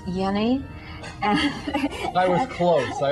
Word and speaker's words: Jenny: all right good the the name is actually Hans Yenni and I was close